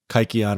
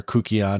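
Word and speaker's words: kykeon: right so you would drink this kikon or kukon depending on how you pronounce it and then you you'd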